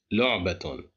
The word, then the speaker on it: لعبة: Here we have the letter ta, it's controlled by tanween, so we pronounce it as لعبة.